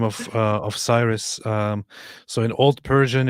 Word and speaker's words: Cyrus: in into Latin was adopted as as chir cherus or keros and it's just because of the stupid English pronunciation of whatever starts with c that we change it all into a different weird weird pronunciation. It's actually a very very recent corruption that in English we just took this whole thing and started calling it Cyrus.